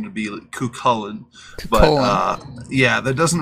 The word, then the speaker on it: Cuchuillain: I think it'd be hilarious but the actual pronunciation would be kullin but uh yeah that doesn't really shorten down